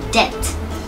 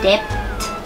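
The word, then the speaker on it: debt: ว่า ยัง ไง ดี จริง ๆ แล้ว ต้อง อ่าน ว่า de de นะ คะ ลืม ตัว B หน้า ที ไป ได้ เลย นะ คะ ไม่ อ่าน ว่า de นะ คะ อ่าน ว่า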